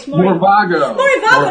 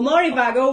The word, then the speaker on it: Morevago: For those people who don't know who he is the founder of Morivago. How am I pronouncing it right? Morivago.